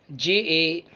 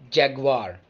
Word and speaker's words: Jaguar: volkswagen next we have j-a-g-u-a-r not jaguar it's jaguar jaguar jaguar the last but not